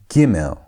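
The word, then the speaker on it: גימל: The next letter is gimmel. Gimmel with a g sound.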